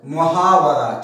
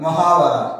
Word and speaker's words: محاورہ: محاورے کا لفظی معنی ہے، یہ عربی زبان کا لفظ ہے جس کا درست تلفظ محاورہ. ٹھیک ہے، میم کے اوپر پیش، واو کے اوپر زبر، را کے اوپر زبر، محاورہ.